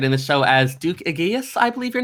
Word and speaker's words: Aegeus: Yes, we did have Wanderer in Anonymoose, who was featured in the show as Duke Aegeus, I believe your name is pronounced. Aegeus, I think, is the pronunciation, and I think I was a friend of the Duke, technically.